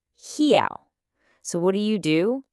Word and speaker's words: real: Take the Portuguese word spelled R E A L. Your English-speaking brain immediately wants to read that as real, right? But that's totally wrong. It's actually pronounced something more like he.